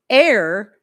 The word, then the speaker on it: heir: Most people pronounce honest, air, as in HEIR, uh, honor, hour. These all start with H's that are silent.